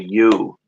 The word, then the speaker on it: ewe: The bull and the female, the U. Is that the U? The bull and the U. But it's spelled EWE.